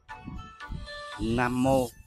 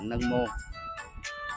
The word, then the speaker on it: Nam Mô: Nam Mô là tiếng Phạn, cũng đọc là Nâng Mô.